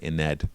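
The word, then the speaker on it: Ynnead: And then when it comes to Yanid, on their videos, they've been calling it Ined.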